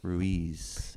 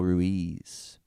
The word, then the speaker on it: Ruiz: And I think I have said his name wrong many times because I think I in Spanish is pronounced E. So I think his name is actually Don Miguel Ruiz.